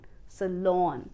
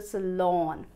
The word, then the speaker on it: salon: Drop me to the salon. I need to get to the salon. The stress is on the second syllable Excellent!